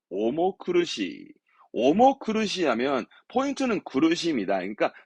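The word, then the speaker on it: 重苦しい: 그래서 발음은 오모크르시.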